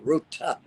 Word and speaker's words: Ruta: beautifully I must say Ruta with a t um Ruta translated into